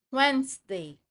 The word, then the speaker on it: Wednesday: So in English form or English term, we have here Monday, Tuesday, Wednesday. Oh, it's silent D. Okay? So it's read as Wednesday, Thursday, And then we have Friday.